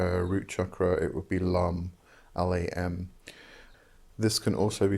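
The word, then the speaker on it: Lam: look at the root chakra it would be lum l-a-m this can also be spelled Lum l-u-m or Lang long which is l-a-n-g and the NG is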